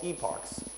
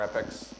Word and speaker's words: epochs: And not only that, but it's going through multiple what's called epochs or epics, depends on wherever you're pronouncing it from, right?